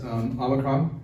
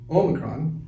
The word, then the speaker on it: Omicron: we last spoke is omikron or actually omicron there was actually a new york times article yesterday talking about how to pronounce it and it turns out it could be either or either that's right so